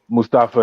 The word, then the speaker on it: Mustafa: I'm definitely going Mustafa and Ziggler. Man, you still pronouncing his name like Michael Colt, bro. It's Mustafa.